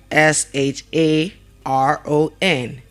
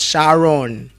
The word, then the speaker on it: Sharon: And the name is pronounced as what? Sharon. It's pronounced as what? Sharon. And not Shaun. It's not Shaun.